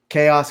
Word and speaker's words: Kaos: Chaos CrossFit.